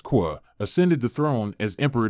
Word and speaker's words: Kuò: Following the death of Emperor Daizong, his son Li Shi, pronounced Qua, ascended the throne as Emperor Dizong.